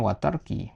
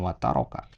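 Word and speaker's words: وترك: Nah, ini tadi ya watarki yang tadi kalau antum baca di sini bfi'li maka di sini bacanya watarki bukan wataroka ya.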